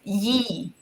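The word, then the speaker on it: Є: Ukrainian alphabet this letter it's pronounced as ye um ye yes and this is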